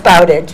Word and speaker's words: Bowditch: Everybody pronounces your name wrong. So we know it's at least Tricia, mm-hmm. and it's Bowditch.